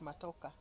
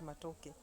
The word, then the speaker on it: matoke: likes matoke as there before she used to call it matoka then she's in news she came to be able to she was able now to pronounce the word matoke and uh I remember